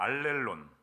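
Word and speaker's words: ἀλλήλων: 알렐론. 론입니다. 룬이 아니라 알렐론.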